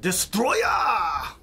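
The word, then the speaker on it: Destoroyah: Some big monster called Destroya! It's actually pronounced like that.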